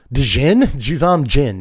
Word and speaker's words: Juzam Djinn: Juzam Djinn. You don't pronounce the D, dummy.